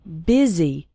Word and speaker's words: busy: in fast spoken english the word busy is pronounced with an e sound busy and the word and